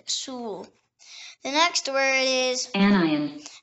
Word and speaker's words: anion: The next word is anion. Anion. It can also be pronounced anion.